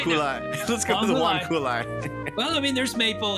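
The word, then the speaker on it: huanghuali: Is it pine, huanghulai, maple, or oak? Huanghulai is spelled Huang Huali. Huanghulai. Let's go to the Huanghulai.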